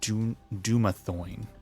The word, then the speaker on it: Dumathoin: Dumathoin is what she said.